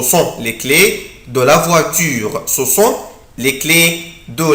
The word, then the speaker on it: voiture: ولازم ننطقها ما ننطقهاش بسرعة مش voiture لا على طول كده اعمل ستريس على la lettre U. بصوا voiture.